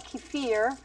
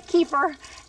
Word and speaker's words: kefir: Russians call it kefir, but we Americans say kefir.